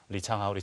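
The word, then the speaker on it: 李昌镐: 리창하오 하면서 이창호의 중국 발음이 리창하오거든요.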